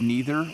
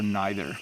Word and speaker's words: neither: We pronounce it as neither or neither.